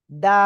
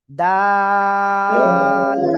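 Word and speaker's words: دال: জিহ্বার আগা উপরে 2 দাঁতের গোড়ায় লাগান, লাগিয়ে 3 আলিফটা নিয়ে এই অক্ষরটা উচ্চারণ করেন, ডাল। প্লিজ সবাই জোরে জোরে একসাথে আনমিউট হয়ে জোরে জোরে বলেন, ডাল।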